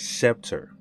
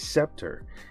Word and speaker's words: Septor: watch and this is scepter and i hope i'm pronouncing it right i'm i'm pretty sure that's the way you say it accept and then tour at the end of it which i thought was